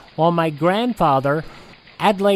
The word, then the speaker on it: Adlai: Louis, head of the International Mark Twain Society, the correct pronunciation is Adlai, although to put it mildly, I've been called many things.